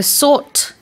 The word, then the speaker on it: sought: So, sort is the past tense of seek.